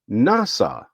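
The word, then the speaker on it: נשא: Oh, it's NASA. Let's let's hear the voice again. Strong's H5375. NASA. NASA. So, this word actually sounds like NASA. It's nasa. It's much closer phonetically, transliterated the same way.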